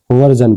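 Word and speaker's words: version: जैसे कि वी आर एस आई ओ एन वर्जन। क्या पढ़ेंगे इसको? वर्जन पढ़ेंगे। वर्जन ज और निकल रही है ना साउंड में।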